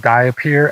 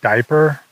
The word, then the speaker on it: diapir: I'm pretty sure it's pronounced Diapir and not Diaper, although that would be funnier.